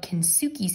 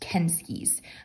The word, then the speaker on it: Kensuke: looks like it's spelled kinsuki's Kingdom but um this is actually a Japanese name and we looked it up and it's actually pronounced kenskies um so it just